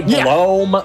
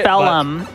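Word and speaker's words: Belome: our next boss uh I pronounce his name below me I know some people say Blom some people say I don't know if there's another way Bellum like Bellum Temple Bellum never heard Bellum before like a British actor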